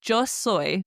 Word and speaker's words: yo: You say joy. Now it's literally written jo y o soy s o y like soy sauce is the best way to remember it.